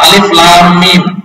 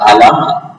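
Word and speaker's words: الم: Tapi ketika dibaca qaf atau di Quran qaf atau alif lam mim, jangan dibaca alam.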